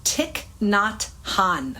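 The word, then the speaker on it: Thich Nhat Hanh: His name is Ticknot Han. Okay, I looked it up so I would pronounce it correctly.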